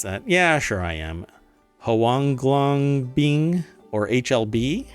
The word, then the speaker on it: Huanglongbing: Huanglongbing, or HLB, right? Huanglongbing. Yeah, I'm going to say it. That's how it's pronounced. Huanglongbing.